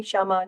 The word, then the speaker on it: Kshama: There's a very slight K, but it's totally okay. It's hard for Indians to say. You can just call me Shama. Just pretend the K is silent. Okay, Kshama Sawant, who is an